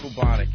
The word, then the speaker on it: bubonic: Steve, how do you say bubonic? B-U-B-O. Bubonic. What? Bubonic. It's bubonic, stupid. All right. There are two O's with a long O pronunciation after that.